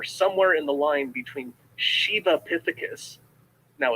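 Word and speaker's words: Sivapithecus: in the line between shiva epithecus now it's spelled s-i-v-a but in in the sanskrit it's pronounced more of an sh so it's a shiva epithecus down to orangutans now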